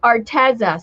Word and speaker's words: Arteza: bigger channel and um she said arteza so i think she must know since the company sent her products to use on her on her channel i think she must be saying it right arteza i've heard some people say artesa i think anyway these